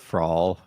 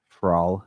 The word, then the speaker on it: Fra'al: I would say it the fall, but I think he would say it something like the But no, I would probably say it frol. You got to roll your Rs.